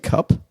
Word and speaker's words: Cap: You're saying cup?